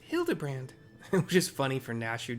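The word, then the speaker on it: Hildibrand: It's pronounced Hildabbrand, which is funny for Nashu to be correct.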